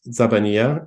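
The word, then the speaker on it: الزبانية: guess the easiest way so this word is pronounced zabania and nobody knows what it means it only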